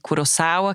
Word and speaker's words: Kurosawa: uma outra questão que é pronúncia do sobrenome a gente vai ouvir Curaçao que é a forma correta de falar vai ouvir kurosawa vai ouvir de todos os jeitos eu não posso me